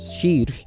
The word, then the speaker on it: Shirsh: It's pronounced as Shirsh, and it is spelled as S-H-I-R-S-H.